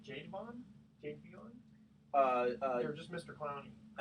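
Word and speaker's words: Jadeveon: First of all, how do you pronounce his name? Jadevon? Jadevon? Or just Mr. Clowney? Javian Clowney.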